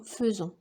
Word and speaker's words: faisons: personne nous nous faisons on dit nous faisons mais on écrit faisons on écrit ai et on prononce nous faisons venir je viens tu